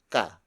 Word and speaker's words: ka: who and it is followed by kah kah kah kah is spelled us que hay it means you a